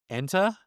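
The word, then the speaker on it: Enta: And I'm going to say his name wrong. Ena.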